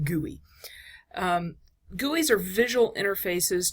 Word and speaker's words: GUI: for graphical user interface okay and again it's pronounced guey um guies are visual interfaces to your computer's